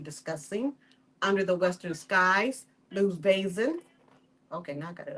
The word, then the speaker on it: Lu Vason: Lou Vason.